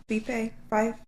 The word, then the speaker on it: Fife: In 2014, 18-year-old Paige Rowland is a student nurse, and I believe it's pronounced Fife, Scotland. Fife?